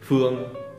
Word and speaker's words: Phương: Những từ có ng thì ví dụ như Phương thì họ đọc kiểu như Phương, đúng không?